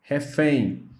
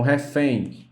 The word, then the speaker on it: refém: Vamos para a palavra refém. Então, refém, ela é oxítona. Quando você pronuncia a palavra refém, o fém é a mais forte. E na palavra, ela vem por último.